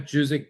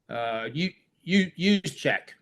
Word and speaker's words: Juszczyk: Not Juzik, but Juszczyk, the fullback for the 49ers.